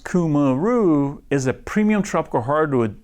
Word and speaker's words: Cumaru: Pronounced Cumaru, is a premium tropical hardwood used for decking, siding, docks, boardwalks, fencing, pergolas, railing, and cladding.